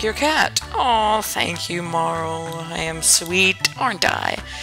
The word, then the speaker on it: Marle: us oh thank you and your name is Marl or Marley whichever way you want to pronounce it I pronounce it Marl okay now